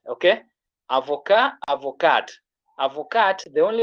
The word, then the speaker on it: avocat: We say avocat, T is silent.